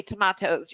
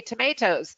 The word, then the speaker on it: tomatoes: How can you say tomatoes? You're supposed to say tomatoes. Or what? Is it basil? No, it's not basil, it's basil. And everyone has a good laugh. The important thing is to learn both so you can recognize them both, right? In English, you can say tomatoes, you can say tomatoes.